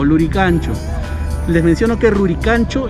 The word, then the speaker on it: Lurigancho: De igual manera, Lurigancho es la variante costeña de Rurigancho, pero aquí en la costa, acá del quechua se pronunciaba como G y la R se pronunciaba como L.